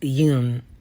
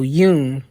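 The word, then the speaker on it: 윤: So Yoon, you can think of it as Y-U-N-E for you English speakers, or if you needed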